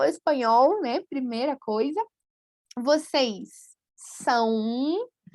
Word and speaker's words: são: Como pronúncia, parece que tem aí uma letra U, né? São, ok? Então, a nasalização leva um pouco para a letra U em todos esses casos.